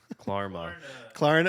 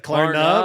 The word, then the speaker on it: Klarna: Like, or is it Karma or Klarma? Klarma. Klarna with an N.